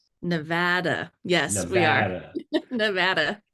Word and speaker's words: Nevada: Perry and worked with the Nevada Supreme Court Justice Michael Cherry.